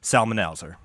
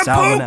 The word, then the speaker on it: Psalmanazar: There's a silent P. I don't know how that P is pronounced, if it is pronounced.